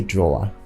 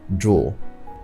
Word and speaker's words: drool: Now in Nigerian English, we often say drawer, but the right pronunciation is simply drool.